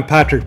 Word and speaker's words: Patric: is very weird because it's just patrick but sometimes they want to do something with that c so in your case